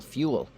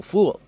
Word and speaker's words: fuel: do something nice like learn how to pronounce fossil fuel not fossil fool so it's not that